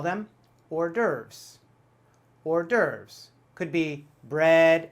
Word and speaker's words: hors d'oeuvre: dovera something like that actually completely different as usual we say hors d'oeuvre hors d'oeuvre or durv that s in the middle we don't even say it hors d'oeuvre an hors